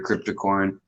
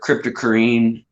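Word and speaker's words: Cryptocoryne: that's what i would say too crypt or cryptocorn i've heard cryptocurrene um you know kind of from a more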